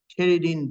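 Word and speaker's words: pterin: has a Terin ring that's the way you pronounce t does not pronounce it starts with t Terin ring even though it has a silent P Terin ring is this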